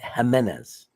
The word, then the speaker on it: Jimenez: how to say Johnny Jimenez jenez it's like a h the J Indie cult welcome worst